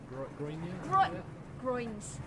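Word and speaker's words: groynes: but it's spelled weird, isn't it? Yeah, with a Y.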